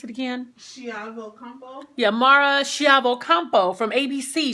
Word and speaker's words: Chiavo-Campo: How do we pronounce it again? Chiavo-Campo.